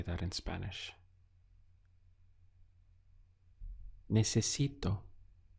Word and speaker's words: necesito: Necesito. Let's count the syllables. We have ne, se, si, to. 4 syllables. Necesito is I need.